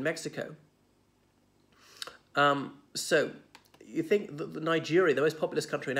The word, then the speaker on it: niger: the River Niger but Niger or is sorry in Latin what I shall say it but it rhymes with the trigger is is the word